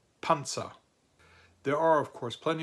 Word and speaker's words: Panzer: plosive, like a Z, like a TS sound if you put T and S together and you add a little puff of air, so it's a plosive sound.